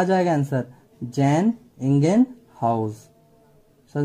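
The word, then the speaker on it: Jan Ingenhousz: जैसे इन जैन हाउस, लेकिन इसका अगर पूरा प्रोनाउंसिएशन करोगे तो जैन इंगेनहाउस।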